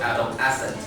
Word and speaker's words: adolescent: Yeah, the stress is on the middle, so adolescent.